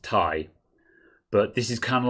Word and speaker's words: Ti: a set as a non-philistine i've always said ti good for you chris yeah for those of you who don't know nvidia have said it's pronounced tai but this is kind of like the the